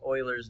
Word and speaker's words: Euler's: That's pronounced Euler's number.